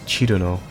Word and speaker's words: Cirno: So if that's the case, her name would probably be pronounced something like Chillno in English.